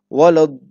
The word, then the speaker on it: ولا الضالين: We have to stretch the dot sound for 4 or 5 times. Okay, for 4 times or for 5 counts, or we can also say similar to 5 alifs or 4 alifs.